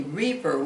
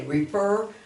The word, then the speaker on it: refer: afterwards okay um and these ones that the emphasis on the second syllable we don't say reaper we say refer occur okay when that